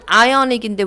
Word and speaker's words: Ionic: 발음은 아이오닉인데 왜 이오니아라고 번역이 되는지 모르겠지만, 그 예전에 그 비주얼 박물관 책에서도 이오니아 양식이라고 써 있었던 게 기억이 납니다.